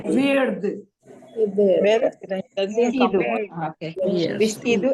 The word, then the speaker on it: verde: Verde. verde. Verde. Verde. Verde. This. Cut it off, but don't cut completely. Okay, don't make it verde. It is verde.